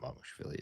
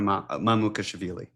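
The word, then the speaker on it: Mamukelashvili: It's not Mamushvili, is it? It's close. Is it close? It's close. I believe it's Sandro Mamukashvili.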